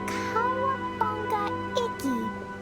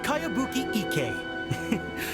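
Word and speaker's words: Kayabuki Ikku: By Kawabunga Iki. Yoimiya, this is a really strange name. Who's this Cowabunga? It's pronounced Kayabuki Ike.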